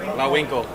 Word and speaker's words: Lawinko: Lawinko. Lawinko. Just think of Bullwinkle and Hey, then how say do I do La the score Winkle, here?